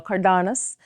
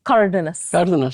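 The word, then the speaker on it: Cárdenas: Cardenas. And I don't think I pronounced that correctly. It's Cardenas. Cardenas.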